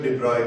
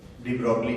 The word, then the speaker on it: de Broglie: According to de Broglie's hypothesis, ये इसका pronunciation de Broglie करना है, de Broglie नहीं करना है।